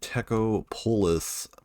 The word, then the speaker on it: Techopolis: a mod pack called TECO polus uh yeah that that that is how you say it I know it sounds